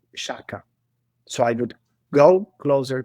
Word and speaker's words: Sciacca: So This is one of those places that I've seen and not known how to pronounce. Shaka. Shaka. Yeah.